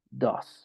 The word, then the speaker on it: does: Entonces es do, does, ¿ok?